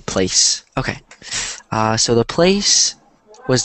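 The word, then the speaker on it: plaice: Which I've never heard of before, but I guess it's pronounced the same place.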